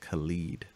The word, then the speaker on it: Khalid: on communication so that's I think his name is pronounced Khalid it's very yeah cuz